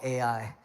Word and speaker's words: Ai: out the town of Ai. It's not artificial intelligence, all right? It's actually called Ai.